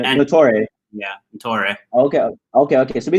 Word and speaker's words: Ntore: We got nobody knows, Greg is, how do you say your last name? Ntore. Proper pronunciation. And Ntore.